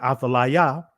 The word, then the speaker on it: Athaliah: So when the queen and mother Athaliah, or Athaliah, right, I'll say it again, Athaliah, received the report that her son Uzziah, in